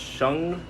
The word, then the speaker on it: Shang: I know that Shang is pronounced Shung.